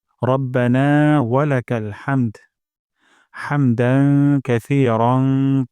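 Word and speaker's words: حمدا: করলে সুন্দর হয় হামদ গলার মাঝখান থেকে হা উচ্চারণ করব রব্বানা ওয়ালাকাল হামদ আর যদি মিলিয়ে পড়ি তাহলে হবে রব্বানা ওয়ালাকাল হামদু তারপর হামদান হা গলার মাঝখান থেকে যেন হায়া যায় হামদান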